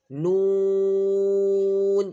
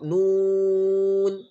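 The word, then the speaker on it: نون: Then noon. This is a lanting letter. Try to round your lips. Round your lips in the pronunciation of noon. Noon.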